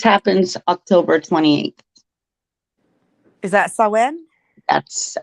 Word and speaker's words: Samhain: Samhain. It says Sam Hain. Samhain is what it Sam says Hain. if you pronounce it that way, but it's pronounced Samhain.